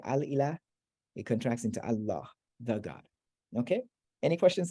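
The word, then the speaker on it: الله: Al ilah, the God, that vowel right there contracts out to Allah.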